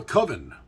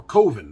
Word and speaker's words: coven: But generally speaking, witches are part of a coven, or coven, depending on where you stand on the pronunciation of that word.